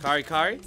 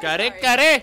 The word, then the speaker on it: kare kare: How do you pronounce this? Kari kari? Kari kari? Kare kare!